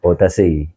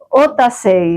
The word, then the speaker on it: Otasegui: Mejor dicho, ¿cómo se pronuncia? Otasegui. Otasegui. Otasegui. ¿Dónde? Vasco francés. Vasco francés.